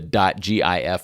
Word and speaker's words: GIF: I pronounce it, the .gif file type. You'll select either the correct sticker if you believe it's pronounced GIF, like gift, or the incorrect sticker